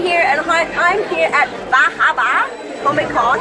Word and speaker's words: Bar Harbor: My name's Gigi Edgley here, and I'm here at Bahaba Comic Con. Is that how you say it? Bahaba.